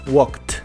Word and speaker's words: walked: para hacerlos en pasado esa Ed la debes pronunciar como una t Así es no como e ni como d simplemente como t Así que Walk en pasado dices walked pas en pasado dices